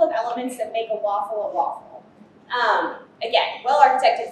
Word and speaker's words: WAFL: back one functionality added so waffle pronounced waffle like the breakfast food WAF well architected functionally